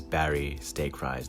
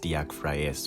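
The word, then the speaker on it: Barry Steakfries: murders innocent people and yes his name is barry stake rise don't tell me that is pronounced diak freyas or anything like that the company is working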